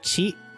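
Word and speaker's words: ち: This is pronounced chi.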